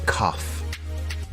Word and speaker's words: cough: The word cough has an unusual pronunciation. Instead of a G sound, we have an F sound here. Do you have a cough?